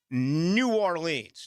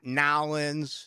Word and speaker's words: New Orleans: And by the way, that's how you say it. New Orleans. Not Nawlins. Not New Orleans. It's New Orleans.